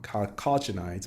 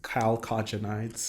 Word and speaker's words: chalcogenides: And so these compounds, these molybdenum chalcogenides, basically, so sulfur. How do you pronounce it? Chalcogenides.